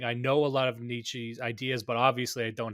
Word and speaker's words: Nietzsche: First of all, Nietzsche is actually the correct way to pronounce it. If you're going to go with German, by the way, I'll just put that down. But Nietzsche is fine.